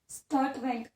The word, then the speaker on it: Sturtevant: स्टूडेंट, तो ये था स्टूडेंट ऑफ मॉर्गन, ठीक है, जिसका नाम था एल्फ्रेड बड़ी अजीब सी स्पेलिंग है इसकी, स्टर्टवेंट, STURTEVANT।